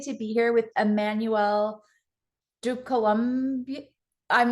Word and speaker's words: Ducoulombier: I'm so excited to be here with Emmanuelle Ducoulombier. I'm not going to be able to say it. She tried to tell me. How do you say your last name? Ducoulombier.